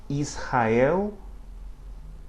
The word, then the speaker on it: Israel: After another consonant, but at the beginning of a syllable. Israel, onha. Israel, onha. Okay, so it has an H sound at the beginning of a word or when it begins a syllable.